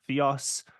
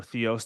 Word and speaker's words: Theos: She's the former director and now senior fellow of the think tank Theos, or Theos, depending how you want to pronounce that.